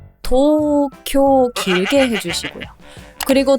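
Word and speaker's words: 東京: 들어서 1번에 수도가 어디죠 도쿄 한글로 표기를 하기 때문에 이거를 보고 그대로 발음을 하면 절대 안 되죠 도쿄 도쿄 이거는 심지어 장음이 두 번 있는 거예요 토쿄 길게 해주시고요 그리고 두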